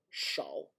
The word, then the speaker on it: 少: 多小, and this is 多小, and this is 多少, shao.